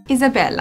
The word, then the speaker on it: Isabela: Isabella, am I saying it correctly?